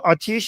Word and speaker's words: آتیش: The formal pronunciation is atash, but like when we're just speaking colloquially, just informally, we say atish. So it's atish.